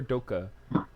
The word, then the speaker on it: Doke: Am I pronouncing it right? Is it Doke or Doka? Or Yeah. Doke? Doke. It's dope. Doke.